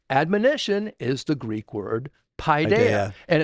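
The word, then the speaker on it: παιδεία: Admonition is the Greek word Paideia. And it's the way it's pronounced Paideia. Paideia.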